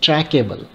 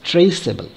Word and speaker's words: traceable: should be pronounced as trackable but we know that the word is not trackable it is traceable so that is why to keep this c soft we are retaining this e so that the c